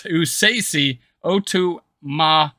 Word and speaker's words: Esezi Otomewo: Now it's pronounced Esezi Otomewo. Sorry. It's Esezi Otomewo.